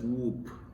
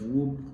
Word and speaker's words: Wolpe: Then we have Joseph Whoop. This Joseph is spelled Joseph, right?